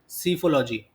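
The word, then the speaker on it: psephology: उसको इंग्लिश में, उसको बोलते हैं पी साइलेंट सीफोलॉजी।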